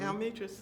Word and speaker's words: Almetris: You got the privilege, so everybody else has the wage, So you mentioned, I forgot how to pronounce it, the well-known dorm. Almetris. Almetris.